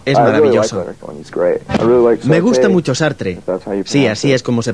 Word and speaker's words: Sartre: Me gusta mucho Sartre, sí, así es como se pronuncia.